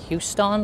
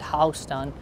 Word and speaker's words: Houston: Even though you might say that it should be sound or pronounced like Houston, like Texas, no, but here it pronounced at Houston.